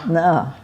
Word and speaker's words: Na: No, that's pronounced Nah. Na N-A Lamile.